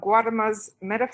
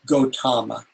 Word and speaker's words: Gautama: portions of the Dan or Jana young of Guatemala physics grant I think I want to correct this facilities and other mispronunciations its Gautama BAU is invested the personal name of the